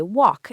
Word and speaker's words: walk: Yes, the L is silent. We say walk and talk.